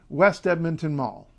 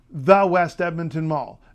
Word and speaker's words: West Edmonton Mall: more slowly and carefully West Edmonton Mall it is not has never been and never will be the West Edmonton Mall don't say well we're